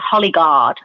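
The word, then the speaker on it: Hollie Guard: It's called Hollyguard, and you can get that on, it's spelled HOLLIE, Guard.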